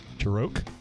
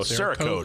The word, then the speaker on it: Cerakote: They can clean, repair, upgrade, or even customize your gun, including, how do you say that? Cherokee? Cherokee? Oh, Cerakote. Cerakote.